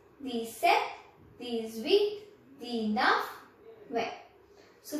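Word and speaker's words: sept: a cube Sam sees set step B is not pronounced set wheat not these again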